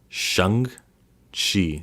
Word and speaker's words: Shang-Chi: Apparently Shang-Chi is pronounced like how they say Aang, the trash Avatar movie, and Chi, or she. Shang-Chi.